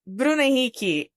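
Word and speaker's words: Bruno Henrique: The name is Bruniki. I it hurts me just saying. So, for those of you uh that got a bit lost in the uh Portuguese pronunciation, that's Bruno Enrique for for us. So, or or Bruce Henry in English.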